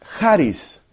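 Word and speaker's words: χάρις: En el Nuevo Testamento se dice Haris.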